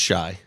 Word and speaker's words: Shai: what everybody calls him his name is spelled s h a i that's why I said shy but I always say shy too like so you're not wrong but I like correcting